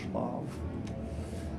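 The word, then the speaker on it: Wrocław: in a town that his name I always butcher it's bav spelled like warclaw um but it's on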